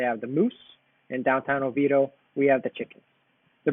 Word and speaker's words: Oviedo: back in the early 1900's it was actually pronounced oviya dope but now we know it as Oviedo and we do have a sister city in